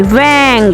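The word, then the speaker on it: vingt: Vang. V-I-N-G-T. T is silent.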